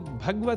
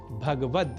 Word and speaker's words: भगवद: श्रीमद् भगवत गीता पर श्रीमद् भगवत गीता, इसमें भगवत पद में गकार से संयुक्त अ स्वर का हम लोप कर देते हैं और कह बैठते हैं भगवत, जबकि शुद्ध उच्चारण भगवद ही है।